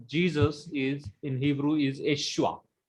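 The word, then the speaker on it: Yeshua: is in Hebrew is Eshua. The pronunciation of the word Jesus in Hebrew is Eshua.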